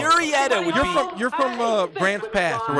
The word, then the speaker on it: Murrieta: We told you about Brandon Dixon, Marietta Valley guy made this. You say MLB debut. Murrieta funny.